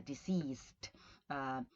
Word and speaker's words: deceased: And then I wanted to stop and consider the pronunciation for the last word that appears in this group, which is the deceased, right? Sorry, the deceased, with two S's, right? As opposed, so deceased, as opposed to diseased, right, which is sick, right?